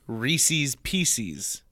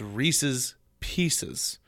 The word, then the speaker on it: Reese's Pieces: and Dale Rescue Rangers people also say Reese's pcs that's not right it's Reese's Pieces I drives me nuts